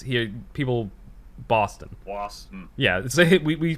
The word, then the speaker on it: Boston: spelled like that they telling you to put like kind of a w in boston don't you yeah yeah it's yeah it's here people boston yeah so we we